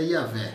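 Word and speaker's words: Iavé: mas o nome o nome próprio com qual ele se apresentou é ia ver e essa pronúncia até a pronúncia né é um pouco discutida se é isso não é isso mas eu digo eu sempre uso essa pronuncia velha porque ela é a mais aceita no meio teológico Vou deixar um vídeo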